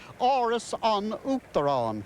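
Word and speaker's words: Áras an Uachtaráin: That is Aras un Uachtaráin. I'll spell it. I won't spell it. It'll take too long. I'll say it. Oris on Uachtaráin, which is the Irish for the House of the President.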